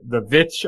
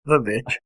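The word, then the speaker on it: The VVitch: He's the director behind The Vitch, I'll say, instead of Witch, because it's spelled with two V's. The Vitch.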